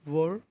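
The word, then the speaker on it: were: Watch, was, watching, have been watching, वर, वर, अच्छा इसको ना वेयर, बहुत कोई इसको क्या बोल देता है, वेयर, वेयर। बट इसका जो है सही अगर प्रोनाउंसिएशन देखा जाए वो क्या होता है, वर होता है, वर।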